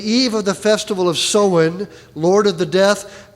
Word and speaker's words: Samhain: The standard Irish pronunciation is Samhain with the O like in cow or Samhain.